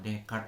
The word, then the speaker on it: Descartes: digagas oleh Frank dskt atau dibacanya dekat ya agak susah ini aja and Perancis ya jadi dekat ya kalau susah menyebutkannya udahlah Descartes gitu aja ya nah kita orang